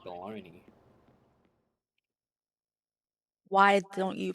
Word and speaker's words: Bologna: So basically, historical mispronunciation is why it's pronounced like that. And advertising. In Italian, it's pronounced Bologna.